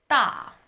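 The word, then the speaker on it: 大: Da. The last one, the 10th consonant, is how you would pronounce the Chinese word for big.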